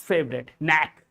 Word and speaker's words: knack: Educatee is now taking that, and before that TCL, and both's favorite, knack. Knack means ability, a skill. If you have a skill, you have an ability, that is knack. Here K is silent, and the last but not the least, this word Nash.